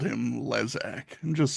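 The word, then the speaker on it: Lezak: Apparently, it's pronounced Lesac, at least according to Wikipedia. So, it's Jason Leesac Gellof.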